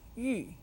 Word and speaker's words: 玉: 小小小 The second syllable in the name 小玉 is 玉. 玉 means jade or precious stone. It is said with the 4th tone.